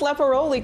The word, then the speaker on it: Lepporoli: And you pronounced Lepporoli correctly.